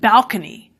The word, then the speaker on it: balcony: Contemplate is bad enough, but balcony makes me sick." What is wrong with balcony? Well, what was wrong with it in the 19th century was that the word was witnessing a shift in stress.